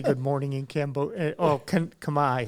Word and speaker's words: Khmer: Oh, Khmer.